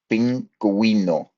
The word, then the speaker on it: pingüino: And diéresis basically means, it tells you when to pronounce the U. Okay, so pingüino, here we go, vergüenza. So the U is pronounced here because of the diéresis.